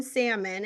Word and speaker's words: salmon: Like, he pronounces the L in salmon and he doesn't even know what quarter after two is.